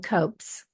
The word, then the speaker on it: COPC: lapping pain conditions or copc which they're pronouncing copes and what that means